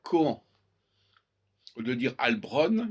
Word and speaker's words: Cohen: Au lieu de dire Cohen, il faut dire Cohan.